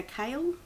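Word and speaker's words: Chaol: won't go into it c h a o l we go kale so I just need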